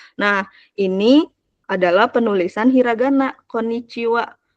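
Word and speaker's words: こんにちは: adalah penulisan hiragana koniciwa Jadi kalau untuk pelafalannya ko n ni Ci WA wnya itu dari ha gitu Kenapa sens pakai ha ya ini rulesnya kita enggak bisa gimana-gimana gitu konwa tulisannya koniciha ciha gitu ada h-nya Tapi bacanya Wa gitu boleh k Kanada di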